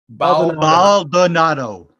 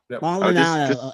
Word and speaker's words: Baldonado: Baldonado. Baldonado, like Arenado.